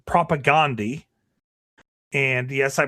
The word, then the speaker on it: Propagandhi: singer, originally was in a punk band called Propagandhi. And yes, I pronounced that right.